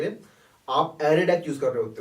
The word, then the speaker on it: ArrayDeque: एरे W ended queue, pronounce just एरे deck. ठीक है, DECK। जब DEQ UE होता है तब बोलते हैं हम DQ, और DEQ UE के अंदर उसे कहते हैं डेक।